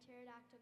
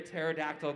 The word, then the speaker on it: pterodactyl: He said, why can't you hear a pterodactyl going to the bathroom? I think I know it, but it's adorable, so I'm going to let him say it. Because the P is silent.